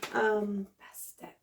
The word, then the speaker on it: Bastet: Is that Bastet? Is that how it's pronounced? Yes. Bastet.